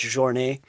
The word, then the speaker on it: Jornet: For those of you that don't know, it's Kilian, and the last name is Jornet, but I'm going to say it like it should be said because he's Swiss or French, I believe, so it's Jornet.